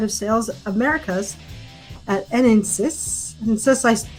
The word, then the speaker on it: Enensys: Enensys, I'm trying to pronounce that one correctly. Enensys? Enensys? That's not so complicated, yeah.